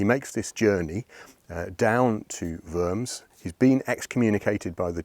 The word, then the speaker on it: Worms: at a court in a place called firms spelled like worms and this court in